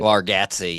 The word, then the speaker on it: Bargatze: Bargatze, yeah.